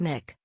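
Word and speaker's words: Muick: Balmoral is very close to the Queen's heart, with her naming her newest corgi Mick, pronounced Mick, after the loch on the Scottish.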